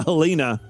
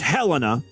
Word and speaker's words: Helena: and of course you know I want to pronounce it uh helina but this time I actually looked it up